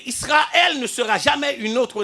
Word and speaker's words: Israël: Israël c'est parce que dans la bonne prononciation on ne dit pas Israël ça ne se dit pas il faut respecter l'original hébraïque de ce test de cette appellation de cette nation parce que il sera elle ne sera jamais une